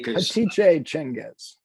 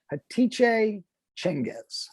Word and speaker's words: Hatice Cengiz: Hatice Cengiz. Would you pronounce that again? Hatice Cengiz.